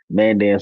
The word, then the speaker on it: Mandan: You said Dan, just like the Mandan, Mandan. Dan, right?